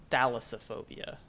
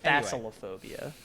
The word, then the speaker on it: thalassophobia: you said that yeah it is thalassophobia that's what i said you said facilophobia don't first you skip